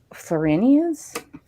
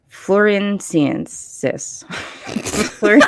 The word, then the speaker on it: Floresiensis: So Homo florenians? I got to check my notes on that one. Good God, woman. I know, because I'm very, very bad at pronunciation. Floresiensis.